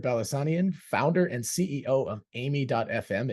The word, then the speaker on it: Aimi: founder and CEO of amy.fm it is Amy right that's how you pronounce it that's correct okay